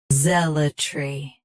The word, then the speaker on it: zealotry: Stress. Z. Keep L soft, then tree clear. Zealotry.